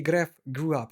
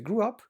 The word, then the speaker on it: grew: named Moana grew up, не grew up, E плюс W читается, grew up, on the island of Motunui.